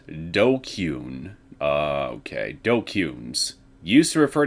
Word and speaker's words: DQN: Pronounced Dokyun.